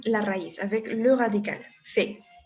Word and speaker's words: fait: ¿Cómo pronuncio? Fait. Como si fuera así, fait, d'accord? Donc, je fais, tu fais, ils l'ont fait. Si no te suena parecido, abre tu boca en forma de A, pero di E.